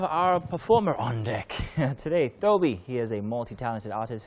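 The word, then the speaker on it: Tobi: pronounce the word, because a lot of people think T-O-B-I is just like, you know, it's pronounced differently, yeah. So your original name, your real name is Toby?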